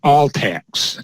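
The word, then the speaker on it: ALTCS: Arizona long-term care system commonly referred to as all tax al pcs so access and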